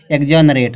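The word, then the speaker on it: exonerate: ना जब ये एक्स आया है तो इसका उच्चारण क्या निकलेगा यहां पर क्या निकाल गया एग्जॉनरेट हो गया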